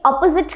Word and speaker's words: opposite: जब हम किसी के opposite खड़े हैं तो आप इस word को क्या pronounce करेंगे? Is it opposite? Opposite? No, it is opposite.